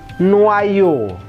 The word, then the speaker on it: noyau: Yang akhiran au dan eau itu dibacanya, masih ingat teori de prononciation, sama-sama o ke atas. O, jangan O biasa, tapi O ke atas. Gitu loh, O gitu ya.